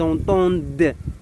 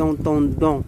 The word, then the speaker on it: entendent: On ne prononce pas le ENT parce qu'on a un verbe.